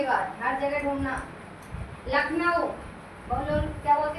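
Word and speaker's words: Lucknow: नकलऊ बोलते हैं ना इसको बोला जाता है लखनऊ क्या लिखते लखनऊ है बट बोलते लखनऊ ठीक है ख उसमें साइलेंट रहता है मतलब बोलते हैं लेकिन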